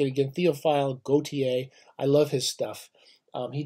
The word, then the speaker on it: Théophile Gautier: this Gautier we're going to do him I'm pronouncing it again théophile Gautier I love his stuff he did all sorts